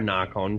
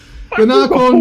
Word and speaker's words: Nacon: No, I'd go Narcon because I'm Australian.